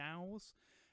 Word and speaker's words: DAW: digital audio workstations or doors or think some people have pronounced them the dowels I choose door but the thing I